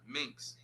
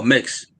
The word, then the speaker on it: Mix: But there's a quote from a song you had a feature with Minx. I think that's how you pronounce his name. Oh, mix. Mix.